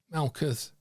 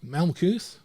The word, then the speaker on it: Malkuth: And that is built in to the Hebrew word Malkuth, that means, and always has meant, kingdom. So the kingdom is spelled in Hebrew and pronounced, said, Malkuth, Malkut, and those letters in themselves, long before